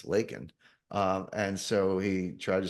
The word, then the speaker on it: Laken: He said Lincoln, it's Laken.